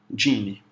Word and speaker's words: Geany: Escreve-se Geane, só que pronuncia-se Geane.